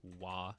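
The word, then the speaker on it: 話: Japanese study before because this is actually not pronounced the way you probably think it is this is going to be pronounced why here because it's being used as a counter when being used in this way it is a counter for chapters or episodes that's why it's so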